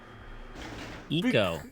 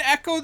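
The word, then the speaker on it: Ecco: it spelled EC o it's e Eco right no it's always been Echo the dolphin I I I I'm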